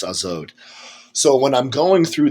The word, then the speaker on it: Az: Secret names, Neptosoeleth, and in Zoroastrianism, she is Az, A-Z, which I think is pronounced Azod.